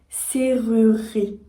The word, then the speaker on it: serrurerie: numéro 1 le mot serrurerie et si on le dit rapidement on dit UNE serruie serruie ici ce qu'on